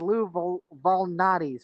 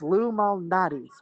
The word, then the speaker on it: Lou Malnati's: But I did get pizza from Lou Malnati's, and apparently I've been mispronouncing it as Lou Valnati's or something. I don't know where I got the V, but it's Lou Malnati's, which apparently, if you